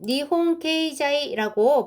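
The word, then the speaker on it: 日本経済: 자, 요거는 니홍케이자이라고 번역이 됩니다. 물론 일본 경제신문이라고 해도 되지만 요즘에는 이렇게 발음으로 표기하는 경우가 많습니다.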